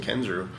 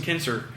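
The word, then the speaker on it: Kensrue: She actually got me into listening to Dustin Kinsrew, and which is funny And story. props for pronouncing his last name right.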